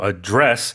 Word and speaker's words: address: So in this case, it's a verb, of course. So we put the stress on the second syllable. It's to address, meaning to direct your